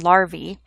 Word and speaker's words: larvae: immature insect and the plural of that is pronounced larvae the pupa stage which is the intermediate or